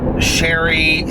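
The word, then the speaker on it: Cherie: of her name now it's sherry something but it's spelled like cherry she plays like the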